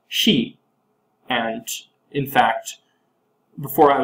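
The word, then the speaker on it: 四: number four for example in Japanese they're both pronounced she and in fact before I was doing this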